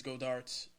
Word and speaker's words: Goedert: Do you think it's Goedert's season team now as far as tight end goes? I think you're pronouncing his name wrong. I think it's Goddard.